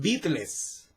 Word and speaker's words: Beatles: Y ellos estaban inspirados precisamente en The Beatles, o acá en México se pronuncia The Beatles, los Beatles. Pero creo que su pronunciación correcta es Beatles.